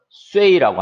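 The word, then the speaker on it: 岁: 그래서 U, 에, 이 세 발음을 합치면은 우, 에, 이 빨리 하면 우에이 되죠. 그래서 앞에 S가 붙었으니까 쇠이 이렇게 되는데 사성이니까 쇠이 되겠죠.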